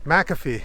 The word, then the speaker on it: McAfee: we're heading over to maafi and he's like why are you pronouncing it that way and I'm like what do you mean and he's like it's McAfee I'm like really he's like